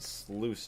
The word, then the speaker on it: sluice: It's pronounced sluice juice. Is it really? Sluice? I guess. I just think of juice. J-U-I-C-E. So I just say that's just like sluice.